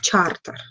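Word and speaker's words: charter: которая называется Народная хартия хартия по-английски производится как произносится как чартер отсюда и термин чертисты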